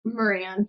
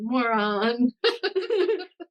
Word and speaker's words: Moran: Moran. Yeah, that's the easiest way to say it. Instead of like, moron.